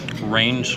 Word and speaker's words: Rein's: The name of the deli is Rein's, not Reins. I mispronounced that.